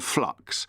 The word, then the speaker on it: flux: have become addicted to flux. Flux is a good word. You have to be very careful to pronounce the L.